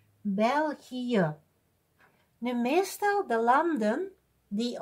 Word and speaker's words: België: En daarom zetten wij op de E twee puntjes omwille van de uitspraak. België. Om te weten dat we de twee letters apart moeten uitspreken. I, E. En de E wordt als E uitgesproken.